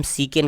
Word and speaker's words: chicane: तो देखिए नेक्स्ट है CHICANE, तो यहाँ पे भी सी के आगे H है, तो इसे हम सीकेन कहेंगे।